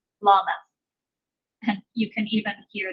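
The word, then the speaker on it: למד: And so We have Aleph, Beth, Gimel, Dalet, Hey, Wow, Zion, Hey, Tape, Yod, Kaf, and then the next letter, Lamed.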